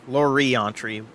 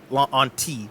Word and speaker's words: Laurenti: Yeah, Laurientry. Laurenti would be how you'd pronounce that.